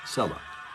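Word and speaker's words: Cella: Sella. They spell it C-E-L-L-A.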